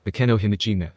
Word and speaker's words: Akeno Himejima: It's Akeno Himejima. Akeno giggled when Naruto got her name wrong.